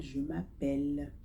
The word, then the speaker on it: appelle: Ici, on remarque que le dos, les deux ailes ne se prononcent pas, mais on dit simplement elle, je m'appelle.